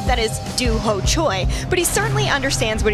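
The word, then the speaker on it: Dooho Choi: Tio Thiago tarz may not know how to pronounce his opponent's name that is Doo Choy but he certainly understands what he's facing in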